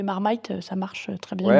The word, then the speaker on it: Marmite: c'est vrai que la marmaite en anglais c'est le petit pot le truc infame. Donc quand je communique en anglais, on essaie de dire marmite, on le prononce à la française quoi.